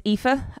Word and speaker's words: Aoife: quick overview um hello my name is epha uh I am the Fedora operations architect that is how you say my name despite all of the vowels that they could possibly cram into to one cable sounding name um not two really and uh my predecessor